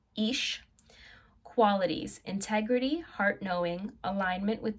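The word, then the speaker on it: Ix: Okay, so pronunciation is Ish.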